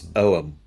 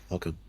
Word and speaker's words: Ogham: It's Oam. It's not welcome. It's Oam.